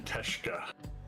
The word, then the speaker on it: Teshka: People always butcher my last name, but to pronounce it is actually Teshka.